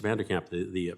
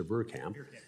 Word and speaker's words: Verkamp: Mr. Vanderkamp, I'm sorry, I think I mispronounced your name. Mr. Verkamp.